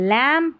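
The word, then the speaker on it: lamb: यह है लैं बी साइलेंट है।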